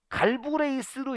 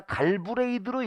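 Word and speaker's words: Galbraith: 그 이유는 뭐냐면 갈브레이스로 읽을 거냐 갈브레이드로 읽을 거냐 이런 거예요. 그러니까 어떤 때는 갈브레이스라고 문제를 내기도 하고 어떤 때는 갈브레이드라고도 문제를 내요.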